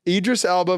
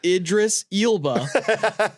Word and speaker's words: Idris Elba: one no you can't Idris Alba versus Keanu Reeves not how it's pronounced I I just did it it's Idris ilba versus kenu Reeves what